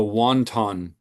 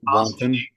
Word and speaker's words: Wanton: I'm going to mispronounce this on purpose. The Wonton song, Oh, as like opposed to Wanton.